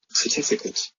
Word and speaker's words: certificate: Certificate. That's correct. 这个 A 发的是短元音 a 的音。Certificate.